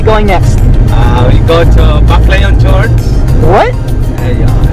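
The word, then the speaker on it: Baclayon: So what's the correct way to pronounce it? Baklayon is big forward. Baklayon?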